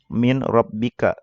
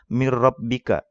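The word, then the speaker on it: مِنْ رَبِّكَ: Nah, kalau kita nggak tahu ilmu tajwidnya, bacanya seperti itu pasti ya. Min rabbika itu salah. Karena yang benar dibacanya mir rabbika. Mir rabbika tanpa didengung juga ya, tanpa digunah juga.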